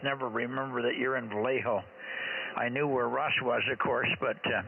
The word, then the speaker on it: Vallejo: just say the name of the town don't spell it I didn't get anything of it over valo valo Vallejo Vallejo yeah I know Vallejo I know all